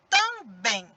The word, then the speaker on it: também: E na hora que eu pronuncio, também. O bem sai com mais força. Então, neste caso, a sílaba tônica é o bem, que está na última.